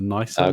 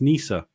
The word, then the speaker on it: Nisa: The nicer Nisa. I've been saying nicer this entire time, right? And then somebody said, "Oh no, it's Nisa."